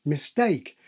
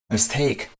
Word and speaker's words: mistake: We can see the same thing with lots of historically prefixed words, like mistake and extensive experience. Non-natives are especially likely to aspirate these historically prefixed forms. Mistake.